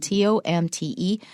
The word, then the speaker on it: Tomte: It's spelled T-O-M-T-E, Tomte.